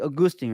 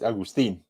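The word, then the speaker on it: Agustín: I think the Spanish it's like Augustine, right? Augustine. You're saying it right. You're saying it right. Don't worry. Really, Augustine? No, it's not It's really not like that. It's Agustin.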